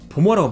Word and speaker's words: bomber: bomber라고 부르셔야 돼요. B-O-M-B, 여기서 마지막 B는 소리값이 없습니다.